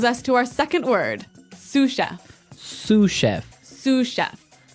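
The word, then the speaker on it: sous chef: Sue chef. Sue Cheef. Sue Cheef. Sue chef. S O U S. So, the S is silent because it's like a French word.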